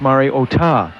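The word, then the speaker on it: Mariota: sports information Department that the pronunciation of his name was to Accent the final syllable mark is Mario otah I asked Andy mcnamer what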